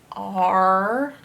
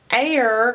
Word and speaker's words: are: It's not air, because this isn't a magic E making the A say long A, air. It's not air, it's R. All three letters are making one sound, R.